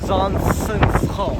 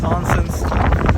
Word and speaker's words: Zaanse Schans: Zansens. Sansa's house. Zansens.